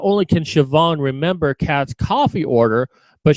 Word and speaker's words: Siobhan: Siobhan, that's pronouncing Siobhan, mind you.